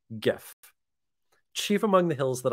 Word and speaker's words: GIF: uh by the way it is hard G gif Chief among the hills